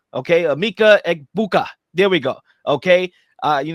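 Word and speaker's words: Emeka Egbuka: You got Amika Egbok. Okay, Amika Egbuka.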